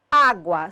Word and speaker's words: água: Temos aqui a palavra água, sílaba tônica de água, A.